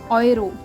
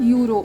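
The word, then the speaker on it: Euro: है और ए ऊ ए ऊ को प्रोनाउंस कैसे करते हैं ओय ओयरो इट्स नॉट यूरो okay यूरो English में होता है ओयरो जर्मन में होता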